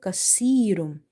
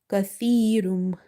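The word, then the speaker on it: كثيرٌ: If you say kasirum, it will be wrong. So we have to avoid the seen pronunciation and we have to read sa properly. Kathirum ra mim to the marum kathirum min.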